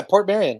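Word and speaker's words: Portmeirion: Am I saying it right when I say Portmarion? Yeah, Portmarion. You're right.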